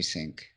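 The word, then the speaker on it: Synch: have to sens sync it might be sink I think it's sink is how you pronounce it they spell it weird with a Y like that like a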